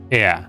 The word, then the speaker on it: heir: Heir, right? It's pronounced heir.